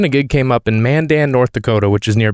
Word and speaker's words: Mandan: anybody else in the country would call it Mandan Mandan sounds like the way somebody would pronounce it just to piss off somebody from